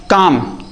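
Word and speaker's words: calm: जैसे मान लो लिखा रहता है अह काम। काम की मीनिंग होता है सी ए एल एम।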